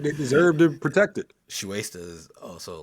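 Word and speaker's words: Shueisha: I don't how you pronounce this. Shueisa. Shue Shuesta. Shueista.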